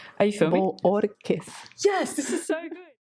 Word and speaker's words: Bohorquez: Bohorquez. So it's like the H is silent. Are you filming? Bohorquez.